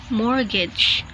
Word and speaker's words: mortgage: t plus consonant sound examples are castle castle mortgage mortgage exactly exactly perfectly perfectly whistle whistle Christmas